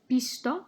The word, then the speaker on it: visto: For número 3, I said visto when the correct way is visto with a B sound at the beginning.